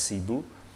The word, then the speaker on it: Cebu: kotanya Sibu, Sibu City, tulisannya Cebu kalau dibaca dalam bahasa Indonesia, ini bacanya Sibu.